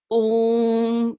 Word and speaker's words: Om: So first we're gonna see the pronunciation and along with the meaning of it. Om, now as I told you in pranavs also, and om.